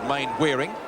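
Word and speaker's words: Mainwaring: not able to convert number three is main wearing not mannering he prefers the main wearing pronunciation we understand which is uh the American way of looking at things mle beautiful B then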